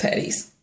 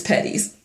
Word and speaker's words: Petties: um but but still no no it's just patties it's patties I have a thing about English and pronounce my last name would be it would